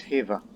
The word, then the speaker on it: Khiva: By the way, I keep pronouncing that area as Khiva, but I found out recently it's Khiva. The K is silent.